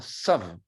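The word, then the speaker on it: ת: On prononce dans certains milieux rabbiniques pas un tav, mais un sav. Un sav. C'est comme le T anglais.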